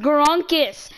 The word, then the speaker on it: Gronkis: It's pronounced Gronkis. G-R-O-N-K-I-S.